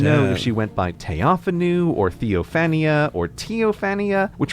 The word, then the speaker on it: Theophanu: The most famous example appears in 972 with the Empress of the Holy Roman Empire, whose name is written this way and probably pronounced Theophanu.